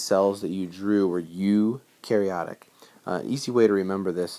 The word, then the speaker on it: eukaryotic: say that is because this word even though it looks like it's spelled or it's pronounced another way this is a you okay you are not